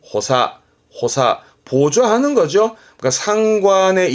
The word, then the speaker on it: 補佐: 발음은 호사, 호사.